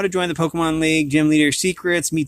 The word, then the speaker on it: Pokémon: of an expert on all things Pokemon it's pronounced Pokemon over the years I've seen hundreds of new